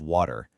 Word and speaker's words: water: In American English, that T in the middle often gets softened into a D sound.